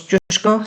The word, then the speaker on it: Kosciuszko: may not know where Kosco is of course jko if you want to pronounce it a little bit more polish um it in the